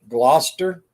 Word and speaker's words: Gloucester: in my life and that ain't spelled they don't pronounce that the way it's spelled either gloucester so i don't know